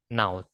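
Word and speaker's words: Knowth: Ini, Naut. Ya, nanti kita cari bareng-bareng ya. Apa namanya? Cara spellingnya. Tapi bacanya kan Naut.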